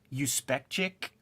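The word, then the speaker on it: Juspeczyk: Spectre character so like the last name is uh when you hear it you know on those motion Comics it's you speec Chic but it's spelled like like Jew and the character is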